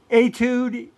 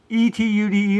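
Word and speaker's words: étude: Etude. E-T-U-D-E. It's a musical piece. Etude. I always say etude, but I believe it's pronounced etude.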